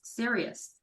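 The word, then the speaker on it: Sirius: but it's spelled because it spelled differently it says play on was s-i-r-i-u-s sounds serious exactly like the star the brightest star in the sky it's serious serious man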